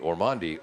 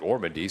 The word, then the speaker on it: Ormandy: against senior goldendent ormandy I've been pronouncing it orandi all year but Mark H pronounced it ormandy so I think we'll go with that five games played one